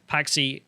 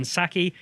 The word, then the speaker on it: Psaki: So this one here, Paxi, how do you say it? Psaki, sorry.